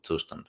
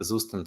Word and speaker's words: Zustand: And since it's a German word, it's not Zustand at all. You can call it whatever you like. I will keep calling it Zustand.